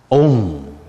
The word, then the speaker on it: Om: Because Om Mani Padme Hum is 6 syllables. What is Om? Om.